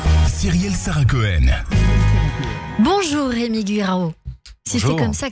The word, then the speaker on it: Guirao: Bonjour Rémi Guirao. Si c'est Bonjour. comme ça que ça se prononce, C'est ça, Guirao.